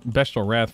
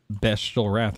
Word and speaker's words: Bestial Wrath: 2 1 oh man I just fat fingered bestel wrath for some reason what the heck the hell did you just call it bestial wrath that's how you pronounce it get wrecked nerd